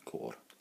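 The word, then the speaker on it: côr: And it's pronounced very much like an apple core, but you have to roll the R at the end. So it's, core.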